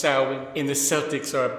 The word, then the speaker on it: Samhain: the real goats man oh horse you probably pronounce it samhain but it's actually pronounced saowin and the celtics are a basketball team but